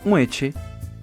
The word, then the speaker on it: muestre: Exemplo, a palavra muestre poderia ficar mueche Isto acontece em regiões principalmente da Colômbia.